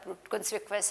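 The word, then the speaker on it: conspicuous: Prominent, INNENT, एंट, prominent, और इसको करते हैं कॉन्स्पिक्वस, CONS, कॉन्स्पिक्वस, because UOUS की आवाज़ है वस, तो कॉन्स्पिक्वस, ठीक है। तो इसलिए हम इसको कॉन्स्पिक्वस कहते हैं, and this is pronounced as prominent, eccentric.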